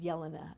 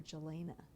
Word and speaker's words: Jelena: I never saw her name spelled out, so people called her Yelena or Helena. And so I'm like, let's butcher it and let's call her Jelena.